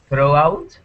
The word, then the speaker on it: throughout: If it's in the middle of a word, it's always going to be silent.